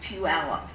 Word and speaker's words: Puyallup: the cookie crumbles and by the way it's Puyallup that's how you pronounce it it's like a rather aggressive stance